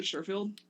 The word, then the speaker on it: Sherfield: Sherfield. Yeah, just SHER field.